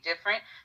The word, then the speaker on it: Difernt: it should go different yes that's my name different it's spelled d-i-f-e-r-n-t um yeah let's get